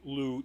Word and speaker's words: Lugh: That's sort of one of the promo shots of Lou. So the main character is Lou as an Lugh. They pronounce then his last name is Tuatha.